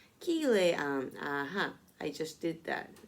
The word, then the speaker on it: Cillian: Her name is pronounced SZA, according to the なるほど、experts at Babel, and the first name of the Irish actor Cillian Murphy is pronounced Kilean.